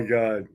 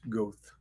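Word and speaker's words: Goethe: achieving your goals Johan Wolf Gang go which you mispronounce goth let's see go was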